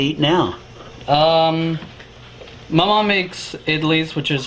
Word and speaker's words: idli: My mom makes idlis, which is like a bread.